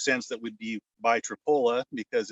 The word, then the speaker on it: Tripoli: And it makes sense that we'd be by Tripola because it's spelled like Tripoli and sounds like Tripola.